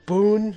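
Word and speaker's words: Boun: she kind of mellows down near the end boon yeah that's how you say his name is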